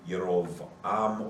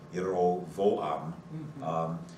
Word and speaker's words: Jeroboam: So it would be Yerovam or Yerovoam. And when the Hebrew language was transliterated into German, the German J is pronounced Yot. It's the Y sound. Yep. So Jeroboam would be Yerovoam or